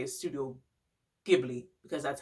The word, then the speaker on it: Studio Ghibli: hold on so the proper pronunciation is studio ghibli but i used to say studio ghibli it just looked like that so i'm like why not but that's not the correct that's not the correct way to say it one of the films